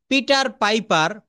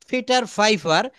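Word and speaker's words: Peter Piper: এই পি এর জায়গা সব কয়টা লেটারে প্রথমে পি রয়েছে। এখানে আমরা বলব ফিটার ফাইফার ফি ফিক অফ ফিকেলড ফেইফারস। দেখেছেন পিটাকে আমরা কিন্তু পি এর মতো বলিনি।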